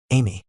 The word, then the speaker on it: Amy: The master of the 58th demon world, president of flames, Amy. TL. Pronounced as Aim.